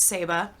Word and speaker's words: Saba: of the Saba tree which I looked up and it is pronounced seba are two stories that